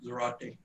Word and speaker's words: Zarate: building more thank you mr zarate am i saying your last name correct yes sir that's actually pretty impressive